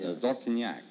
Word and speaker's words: Dortignac: How would you pronounce it over there? In France, Dortignac.